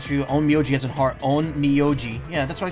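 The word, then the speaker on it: Onmyōji: Japanese only has one way to pronounce it true. Onmyoji as in heart. Onmyoji. Yeah, that's what I said, right? Or did I say Onmyaji?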